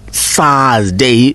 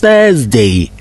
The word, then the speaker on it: Thursday: you hear that it's not Thursday the word is Thursday Thursday people say Thursday oh yes I have